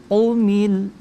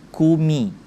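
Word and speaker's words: قُمِ: Nah, maka jangan dibaca ko, tapi qa, qi, au. Nah, maka ini kita bacanya qumil, qu. Nah, masih juga ini banyak yang di umum-umum, kadang di tempat umum, kadang kita temukan ketika huruf qa itu dibaca seperti huruf k. Jadi kumi.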